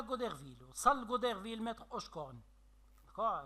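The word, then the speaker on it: Hauchecorne: وصل غوديرفيل متر اوشكورن. داكوغ. كتنطقوا هاد السيده بواحد الطريقه بشكل اوشكورن. داكوغ. وهي راه في الحقيقه اوشكورن. داكوغ. وفي الغالب هاد الاو مادام ثقيله بزاف في النطق كنصرطوها كنقولوا اوشكورن.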